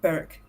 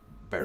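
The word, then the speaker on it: Berwick: Yeah, it's pronounced Beric. Beric because Scott because English.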